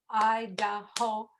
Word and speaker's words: Idaho: state to pronounce but you do have to practice because there are three syllables i da ho and you is and